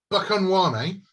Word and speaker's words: Buchanwane: Anyway, while you're all standing there, gathering all this stuff, Buchanwane, because I've come up with a pronunciation for it now.